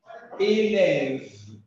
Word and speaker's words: élève: élève et et et le E final qui prononce pas élève élève maintenant lorsqu'il n'y